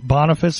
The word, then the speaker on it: Boniface: My specific reference, just so because I was asked about this really quickly, is Unum Sanctum, which was by Pope Boniface, I guess it's pronounced, B-O-N-I-F-A-C-E, the 8th.